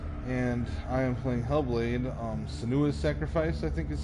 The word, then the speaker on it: Senua's Sacrifice: And I am playing Hellblade, Senua's Sacrifice, I think is how it's pronounced.